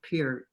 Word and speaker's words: Peart: clockwork lives written with legendary rock drummer neil peart i'm sorry i'm not i don't know that one period you did you did pronounce it just right good job okay good